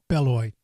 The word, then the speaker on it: Beloit: is this Beloit Wisconsin or do you guys pronounce it bell Lloyd sometimes the T is silent depending on what nationality